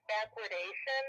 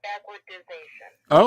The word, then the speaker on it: backwardation: It's backwardation. It's not backwardization.